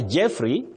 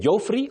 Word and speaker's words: Jeffrey: And if you are Jeffrey, avoid saying Joffrey or Joffrey.